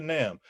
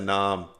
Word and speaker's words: NAMM: No, actually I couldn't make it to NAMM. But Did I say it wrong? Did I say it wrong on my show? I said nom.